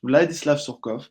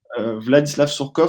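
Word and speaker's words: Владислав Сурков: Donc Vlad Vladislav Skov, pardon, parce que la prononciation russe est pas toujours facile. Vladislav Sourkov, c'est un personnage aussi à avoir dans la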